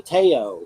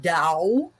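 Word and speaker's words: Tao: the dow the taiyo i used to say the taiyo yeah well you were right um it's the dao and and the reason for for the different pronunciations of of t-a-o and why that was called dao and it's actually dao it is because is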